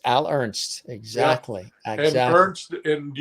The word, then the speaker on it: Al Ernst: That's a very definitive name. Al Ernst. You know what I mean? It's very two single syllables. Yep. Al Ernst. Right. It's Al Ernst.